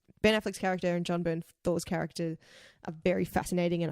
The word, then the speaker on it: Bernthal: Yeah, Bernthal. right. Bernthal.